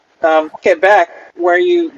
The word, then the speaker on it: Quebec: way is pronounced um quebec where you we emphasize the second syllable okay victoria and victoria